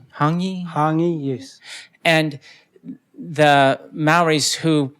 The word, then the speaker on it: hongi: When I was there, I went to, and I'm probably going to mispronounce this, Ngahi? Ngahi, yes.